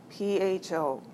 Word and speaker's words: pho: P-H-O, pronounced pho.